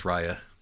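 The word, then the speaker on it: Ryia: her name pronounced yes I am 100% certain that it's Rya for reasons which I'll go into later but it is Rya okay Ria um is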